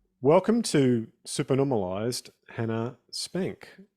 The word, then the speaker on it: Spanke: to supern normalized Hannah spank is that the right way to say your name Spanky Spanky okay so welcome to super